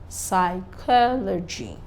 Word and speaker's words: psychology: a mistake somewhere here this is psychology not Logic the stress is on the third syllable